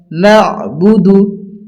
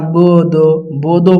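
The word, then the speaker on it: نعبد: আলিফ ইয়া ইয়া ইয়াকা নাবুদু এইযে আমরা অনেকজন পড়ি না বোদ বোদ পড়ি বদন্ত আসলে এটা দ হবে না এটা হবে দু দাল পেশ দু নাবুদু ইয়াকাুদু ও এটাও হবে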